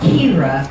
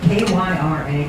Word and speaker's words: Kyra: And Kyra, I will pronounce it K-Y-R-A, Kyra.